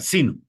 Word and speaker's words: sino: La mayor fuerza de voz recae en la sílaba sí. Se va a pronunciar sino.